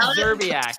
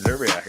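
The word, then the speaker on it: Szczerbiak: How do you pronounce Wally's last name? Don't stop. Everyone stop doing it. I said Zerbiak. What do you want? Oh, that's good. Zerbiak.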